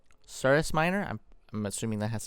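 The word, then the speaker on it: Cirrus Minor: the circus minor oh actually it's not even circus minor I've been pronouncing it wrong it's surus Miner I'm I'm assuming that has to do with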